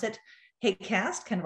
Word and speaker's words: HAQAST: health and air quality applied sciences team we pronounce it hate cast kind of like outcast and this is a